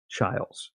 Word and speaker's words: Chiles: call calm like Chile's nobody can pronounce my last name or my first name but it is child's so anyway I hope